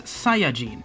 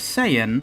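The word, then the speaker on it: Saiyan: Hearing the cast consistently pronounce it as saiene. That is if they don't just angleize it themselves. And seeing how other languages much closer to English keep the sound intact. Seeing all of this evidence and deciding that it should actually be pronounced say could not be any more of a nonsequiter.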